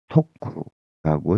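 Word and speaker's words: 得: 아, 야, 우리가 독할 때는 독구라고 니고리가 땡땡 이렇게 붙는데요. 토쿠라고 세게 또 처음으로 발음을 해주면 득이 됩니다.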